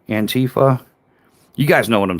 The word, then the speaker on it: Antifa: the little anquifa and how do you say anquifa? Antifa.